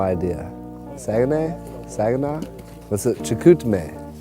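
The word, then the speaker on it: Chicoutimi: filled with lots of snow how do you pronounce the town we're in i have literally no idea saginay saginaw what's up chikutame chikutmei there you go the first feature we did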